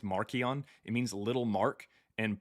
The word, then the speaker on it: Marcion: And his name means, it's pronounced Markion.